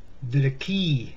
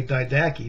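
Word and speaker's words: Didache: and do a search that did it gave did a key is also correct correct pronunciation or some people say died a key because they've never seen the word before look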